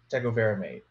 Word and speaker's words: tecovirimat: Tepox or tecovirimate. See, I'm just trying to make him say it again. Dr. Chastain, have we been saying it correctly? Hey, I like it. It sounds good to me. So tecovirimate.